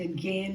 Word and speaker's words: again: Yeah, we don't want to sing again, even though it rhymes with vein. Again, more G-E-H, just like vein.